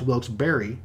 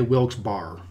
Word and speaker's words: Wilkes-Barre: Just down the road from Scranton, connected by suburbs, is Wilkes-Barre, often pronounced Wilkes-Barre. And from what I understand, both pronunciations are acceptable. Just don't say Wilkes-Barre.